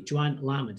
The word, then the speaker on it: Johann Lamont: So many people mispronounce a name that affects me. Joanne Lamont is her name, not Norman Lamont.